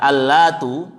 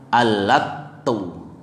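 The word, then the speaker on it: اللات: Para jumhur ulama membaca Lat, ya, Al-Latu itu dengan tak yang takhfif tanpa tasydid. Ya. Sedangkan Ibnu Abbas, Ibnu Zubair, Mujahid, Humaid, Abu Salih, wa Ruwais wa Yaqub mentasydidkan taknya, bacanya Al-Latu. Ya. Jadi tasydid.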